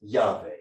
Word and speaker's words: Yahweh: So typically in English, we can also add some vowels and pronounce this Yahweh.